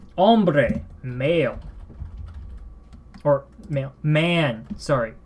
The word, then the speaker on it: hombre: number five we have hombre remember in Spanish th at the begin of the word which is almost always when we're to begin the word I believe and it is silent hombre male or male man